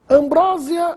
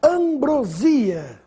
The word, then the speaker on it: ambrosia: o aumentativo de acordo Ambrósia ou ambrosia Essa é a pronúncia correta ambrosia é a ambrosia do doce do alimento dos deuses gregos ambrosia nada de Ambrósia Ambrósia só se for